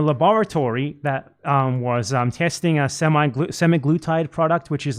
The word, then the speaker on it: semaglutide: He took this semaglutide medication, these injections.